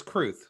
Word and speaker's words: Kruth: It's Kruth. Like the truth.